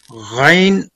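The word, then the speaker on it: غين: Ghain pronounced as ghain pronounces letter ghain from the upper part of the throat.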